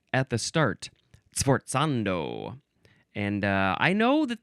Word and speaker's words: forzando: It is an abbreviation for forzando or possibly yes pronounced forzando because it's our next word.